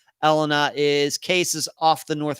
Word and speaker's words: Elena: Elena or is it Elena? I think it's Elena. Elena. I think it's first and third syllables accented, not the second syllable, I think.